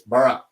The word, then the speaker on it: Boro: it right now because it's not burrow I learned it's BR but Enzo was making